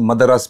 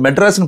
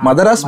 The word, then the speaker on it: Madharas: இப்போ சென்னையில் நடக்கும் போது மதராஸ் மாஃபியா கம்பெனின்னு வச்சுருக்கேன். இது வந்து மெட்ராஸ்ன்னு ப்ரொனவுன்ஸ் பண்ண வேண்டாம், மதராஸ் மாஃபியா கம்பெனி.